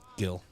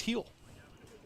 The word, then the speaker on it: Gil: Gill. I've been told it's pronounced Heel.